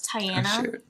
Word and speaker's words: Tianna: I'm an ifbb Pro my name's pronounced kind of weird it's and then Anna so it's Tiana but I when people